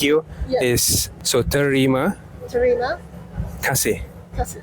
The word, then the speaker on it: terima kasih: Is so terima Terima kasih. kasih. It's 3 syllables plus 2 syllables.